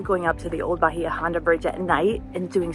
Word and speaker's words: Bahia Honda: history of the old Bajia Honda bridge. Although you'll most often hear Bajia Honda is traditionally pronounced Ba on.